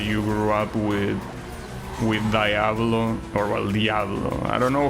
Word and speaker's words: Diablo: Yeah, I know it's pronounced Diablo, but I hear Americans constantly pronounce it Diablo.